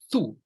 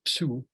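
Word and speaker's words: 𐌸𐌿: So when you see a word spelled like this is the word thu. This is thu. So not psu, but thu.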